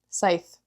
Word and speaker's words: scythe: I don't know if you pronounce the C or not. Scythe. It is Scythe.